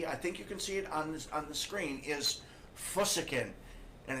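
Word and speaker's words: φυσικήν: And the Greek word for natural, as you can see, I think you can see it on the screen, is physiken. And it's spelled P-H-U-S-I-K-E-N.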